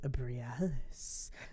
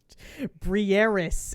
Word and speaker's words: Briaris: You got to meet Brialis. No, I'm saying that. God, that sounds like a fucking penis peel. Isn't that like Cialis? Briaris is her name. Say it properly.